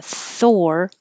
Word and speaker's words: Thor: So remember, Thor, your tongue is going from the TH immediately curling back for the R, and you have to round your lips like or, Thor.